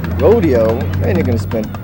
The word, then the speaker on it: Rodeo: do they call it Rodeo sounds fancy it's bougie that's how you say it Rodeo but it's spelled Rodeo it's not we're not in Texas with Rodeo while being from San